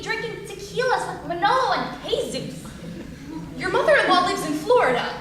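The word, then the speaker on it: Jesús: it's Manolo and Jesus Manolo and Jesus no pronounce the J where is there a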